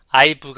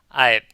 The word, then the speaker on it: I've: 그리고 발음은 I've. 부 발음을 강하게 내지 않죠. I've가 아니라 I've. 이와 같이 아랫입술을 위로 약간만 올린다고 생각하시면 되겠습니다.